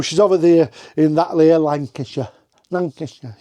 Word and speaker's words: Lancaster: She's over there in that Lancaster. Lancaster. You have to say it like that, don't you? Lancasher.